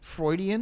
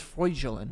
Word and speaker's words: Freudian: you say that Freudian Freudian yes I thought it was fraudulent no Freudian Freudian that's fraudulent it's close it's a very close Freudian Sigmund Freudian that's who is based off of Sigmund Freud Ian no is the name